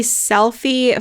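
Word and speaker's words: Selphy: my favorite one which one it is the selfie photo printer I think maybe it's by Canon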